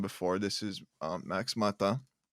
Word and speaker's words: Mata: this is uh max mata am i pronouncing that last name right yeah i guess it gets scrapped all the time it's meta but yeah i had